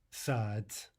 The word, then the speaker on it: сад: if it's in final position as a consonant that would normally be voiced, it will be devoiced to a hard T, right? So again, in some cases in these examples, we'll actually not be pronouncing a D at all. We'll be pronouncing its devoiced equivalent.